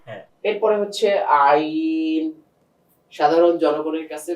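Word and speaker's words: ع: এরপরে হচ্ছে আইন। সাধারণ জনগণের কাছে বা আপনাদের কাছে সবচেয়ে কঠিন যে হরফটা লাগে, আইন। গলাতে একটু চাপ দিয়ে বের করতে হয়, আইন হলকের মাঝখান থেকে।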